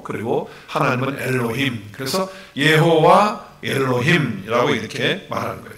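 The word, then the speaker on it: יהוה: 그래서 이 여호와는 예호와라고 하는 발음을 하고 있고요, 히브리어로. 그리고 하나님은 엘로힘, 그래서 예호와 엘로힘이라고 이렇게 말하는 거예요.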